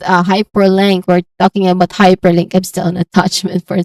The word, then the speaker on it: hyperlink: So we start with high. The syllable is high. There's a clear diphthong here. I diphthong. So AI, that's I diphthong. So this is high. And then followed by per with a schwa sound.